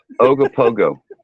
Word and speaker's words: Ogopogo: Is that how you say it? It's like, no. There's lots of O's in between the letters. Ogopogo.